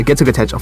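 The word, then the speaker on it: Getsuga Tenshō: Yeah, Getsuga Tensho, for sure. That's definitely how you pronounce it.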